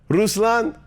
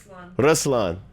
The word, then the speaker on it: Ruslan: How do you say it? Ruslan. Ruslan. That's what I said.